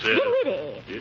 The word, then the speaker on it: Dinwiddie: Dinwiddie. Henrietta Dinwiddie. With an N, not an M, and the accent on the widdy, not on the din.